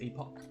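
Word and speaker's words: EpocCam: Oh, it's not EPOS, it's Epoch. I've been saying it wrong this whole time.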